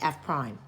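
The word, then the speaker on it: f′: F prime okay that's how you say it F prime okay also sometimes instead of f of X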